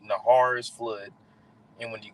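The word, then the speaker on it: נהר: in the Hebrew that word flood is is pronounced Nahar all right Nahar is flood and when you get that word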